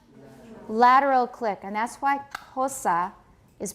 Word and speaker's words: Xhosa: And that's why hosa is pronounced with a lateral click plus aspiration.